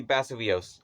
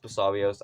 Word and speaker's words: Basarios: Anyway, number 3, Basileos. I know it's pronounced Basarios. I don't care. I'll call him Basileos.